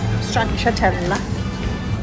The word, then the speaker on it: stracciatella: Stracciatella. That's how you say it. Pistachio. Stracciatella, you say Stracciatella.